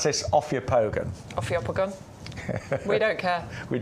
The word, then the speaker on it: Ophiopogon: Because we are going to move on to, I pronounce this Ophiopogon.